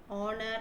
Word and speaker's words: honor: So now, though H is a consonant, in words like hair, hour, honor, and honest, the letter H is silent.